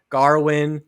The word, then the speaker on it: Gawain: They call him, they pronounce his name differently. They call him Gawain, Garwin.